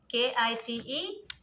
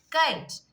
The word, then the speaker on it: kite: But when you add E here, so this I will become, this vowel will become what? Long. I, K-I-T-E, kite. Kite, not kit.